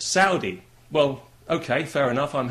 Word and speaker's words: Saudi: have said to me you know you're you're pronouncing that wrong it's not sordi it's Saudi well okay fair enough I'm happy to pronounce